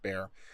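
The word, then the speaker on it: Bexar: that bear is pronounced bear so b-e-x-a-r is pronounced bear so i was corrected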